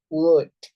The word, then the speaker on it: would: Itu OLD itu kita baca UD aja gitu ya. SH dibaca sha. Should, would, could gitu.